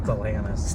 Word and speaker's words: Stellantis: Stellantis.